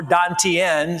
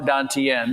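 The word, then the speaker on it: dantian: inner smile and you focus on your lower dantenne. So the the t's in the ancient dowoism are pronounced with a d and that's three three inches below the navl. So this would be your lower dantenne.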